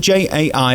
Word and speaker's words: Jai: I mean, J-A-I, how do you say it? Jai. Jai. It's an I. You say Jai and I say Jay.